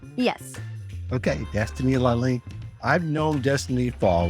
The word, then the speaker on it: Destiny Lalane: Now, did I pronounce that right? Yes. Okay, Destiny Laline.